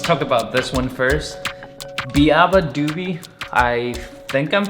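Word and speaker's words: Beabadoobee: By the way, I just looked it up and it's pronounced Biba Doobie.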